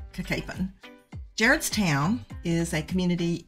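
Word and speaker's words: Cacapon: here gets wrong Cen it's kapen not kakapon and you see kapen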